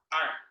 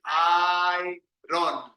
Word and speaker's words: iron: you pronounce them I it's almost like you don't say the r iron IR iron you're not really saying I run you're saying name iron iron when I was learning